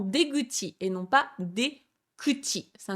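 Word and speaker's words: 出口: C'est pareil pour, par exemple, la sortie du métro, c'est Deguchi, donc D pour la sortie et Kuchi pour la bouche de sortie, ça se transforme en Deguchi et non pas Dekuchi, ça ne se dira pas.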